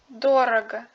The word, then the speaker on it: дорого: La règle est la suivante : si la lettre O suit la syllabe avec la voyelle accentuée, il se prononce comme un abref, doctre robot. Lisez le mot suivant. Дорого дорого.